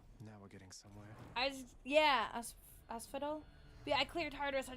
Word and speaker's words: Asphodel: Arena on the fields of Absadol, I think is the pronunciation. Now we're getting somewhere. Asphodel.